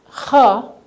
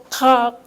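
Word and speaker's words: خ: Ka. I said, don't pronounce the K in front, okay? Just pronounce kha from your halakum here, right?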